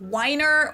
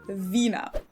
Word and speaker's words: Wiener: Well, in German, we say vinnit with the German being pronounced like in English vina. And of course, it's not whiner or vin, but vina.